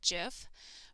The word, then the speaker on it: GIF: on web pages are gif some people pronounce that jiff but it's graphics interchange